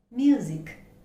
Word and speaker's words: music: the word is music music remember it is not even though we have the alphabet s the pronunciation is z okay it's not s we did not say music it's music music okay remember that next